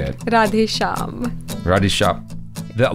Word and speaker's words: Shyam: Radhe Shyam. Radhe Shyam. The Y is silent?